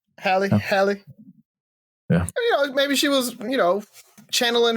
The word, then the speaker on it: Halle: Halle.